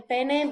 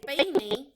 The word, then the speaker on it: peine: El peine is a comb, and it is very important that you pronounce your I, and not say el pene, because el pene is boy parts. El peine is comb. So be careful with your pronunciation.